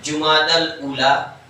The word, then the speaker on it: جمادی الاولی: اصل تلفظ جو مہینے کے نام میں نے بتایا تھا آپ کو، جمادی الاول جمادی الاخر نے جمادی الاولی جمادی الاخری کیا ہے؟